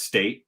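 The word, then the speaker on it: Staite: her last name was would you say it was state just state it's s-t-a-i-t-e i believe so i'm like okay well that was simple but i think most people try to pronounce the e the e on the end isn't there any yeah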